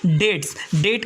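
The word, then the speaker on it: debt: में नेटवर्क है हमारा डेट का मतलब होता है कर डेट का मतलब होता है कि इसमें बीच साइलेंट है इसके बाद में डाटा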